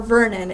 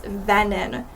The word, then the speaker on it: Venon: It's not Venon or Vernon, it's Venon.